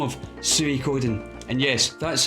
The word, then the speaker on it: Suikoden: a fantastic JRPG also by the name of Suikoden. And yes, that's how you pronounce it, none of this Suikoden. It's Suikoden in Final Fantasy VII.